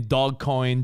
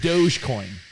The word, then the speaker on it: Dogecoin: you figured out dogecoin people were saying dog coin doggy corn dog dog coin doge dude dogecoin the cryptocurrency called yeah